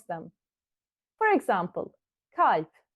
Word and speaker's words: kalp: If we didn't know we need to soften the A, we would read this as kalp, kalp. But we know that there are some exceptional words that need a bit of difference in the way we pronounce the vowel.